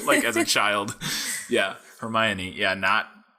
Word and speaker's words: Hermione: But for one, if you asked me how Hermione was pronounced, the first time I read this book, this will be fun.